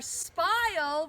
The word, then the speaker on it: spile: We are going to use our spile. Remember, it rhymes with the word smile.